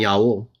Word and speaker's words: Jah: Because in the Bible, even though the best available evidence does point to those two pronunciations, Yah and Yah-O, we're not told we only have to use one pronunciation.